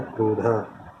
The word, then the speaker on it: क्रोध: अब नॉर्मली हम जो हिंदी में बोलते हैं क्रोध या फिर क्रोध, ठीक है। लेकिन जो का उच्चारण बहुत ही छोटा किया जाता है यहाँ पर। प्रॉपर्ली से बोला जाए तो कहा जाएगा क्रोध।